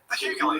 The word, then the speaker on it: Hughley: Hughley.